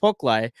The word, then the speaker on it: Poklai: of the name, Poklai, which is pronounced Poklai, but it's spelled in several different variations, which is my dad's mom's side, Mhm.